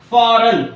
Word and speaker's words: foreign: letter g is silent foreign f o r e i g n here the letter g is silent Talk t a l